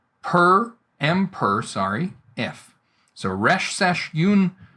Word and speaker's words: pr: And this is pronounced per.